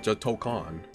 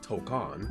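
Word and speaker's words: Tōkon: like you know Marvel token or tokon that's how it's pronounced tokcon Marvel's tokcon and they'll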